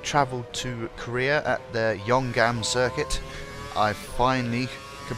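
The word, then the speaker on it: Yeongam: The teams have travelled to Korea at the Yonggam circuit. I finally can pronounce it properly.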